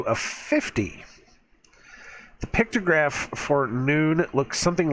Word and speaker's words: Nun: the 14th letter of the alphabet this is pronounced noon even though it's spelled none in um but